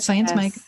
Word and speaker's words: Science Mike: You had Science Mike.